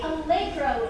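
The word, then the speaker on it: allegro: But actually, algro is how you say fast in Italian.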